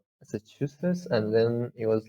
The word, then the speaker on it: Massachusetts: Yeah, there's a secondary stress, Massachusetts, but placing more stress on the second syllable, Massachusetts.